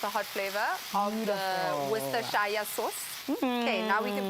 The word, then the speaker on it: Worcestershire: Do you know how to pronounce this? Worcester. Worcester sauce. Who is it? It's Worcester. Worcestershire, Jermaine.